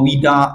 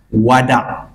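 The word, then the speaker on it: Wada': orang Melayu Panggil tawf Wida Wida bukan Wida Wada Wada dia tak boleh Wida jangan tawah Wida tak mahu sebab dalam bahasa Arab dia bukan Wida dia Wada wau dia baris atas macam ni ejaan dia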